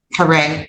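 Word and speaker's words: Caree: Um Karen Kare. It's pronounced Kare, but it's C A R E E.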